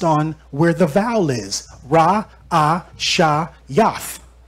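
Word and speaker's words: ראשית: Ra, A, Sha, Yath. How I say it? Ra'ashayath. That's how you say beginning.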